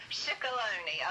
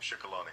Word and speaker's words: Shikaloni: but the fact that it rhymes with baloney didn't seem proper, so I thought I would just leave that alone. But that was my association. But I now remember her name, Shikaloni.